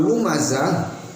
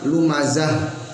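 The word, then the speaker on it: لمزة: Nah, saat melafalkan lumazah, haknya tidak dibaca tak marbuto. Ketika diwasol dibaca, namun ketika wakaf maka dibaca menjadi huruf ha, sehingga lumazah tetap ada suara atau bunyi huruf ha.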